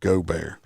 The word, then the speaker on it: Gaubert: But we're going to start out with uh Adam uh Goar. That's how his name is pronounced.